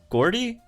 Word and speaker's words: Gordie: know at uh base is it isn't it pronounced jordy isn't it pronounced with the j i thought